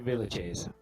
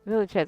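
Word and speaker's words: Villechaize: Yeah, Hervé Villages. Villachez.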